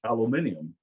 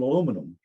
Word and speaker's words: aluminium: And the way they pronounce aluminium, we pronounce it aluminum.